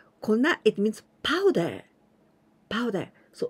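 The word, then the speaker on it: 粉: we say konna kona but here we pronounce kona it means powder powder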